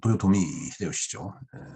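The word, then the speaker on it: 豊臣秀吉: 일본은 이제 그 도요토미 히데요시죠. 소위 그 풍신수길입니다. 풍신수길이에요. 이 길하다 할 때 이 길자, 이걸 요시라고 읽죠. 그 풍자, 그 풍자를 도요로 읽습니다. 그래서 풍전 써놓고 도요다라고 읽죠.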